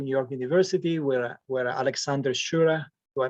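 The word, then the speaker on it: Schure: Then you went back to New York University, where Alexander Shure, do I mispronounce his last name? Sure.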